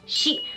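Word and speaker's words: 四: Japanese superstition because the number 4 can be pronounced as shi, which is homophonous with the word for death.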